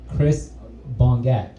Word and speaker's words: Chris Bongat: Give it up for Chris Bongat.